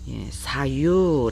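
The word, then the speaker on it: 左右: 써라 라고 보시면 되고 좌우의 요한 자는 사유 라고 발음합니다 사유 그 다음에 5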